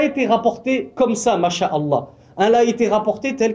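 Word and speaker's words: شاء الله: ce que, sha'a, c'est pas sha, c'est sha'a. Sha'a, yasha'u. Ma, sha'a, Allah. Donc après on fait la liaison sha'Allah, mais c'est pas shala, C'est Sha'Allah, Ma Sha'Allah.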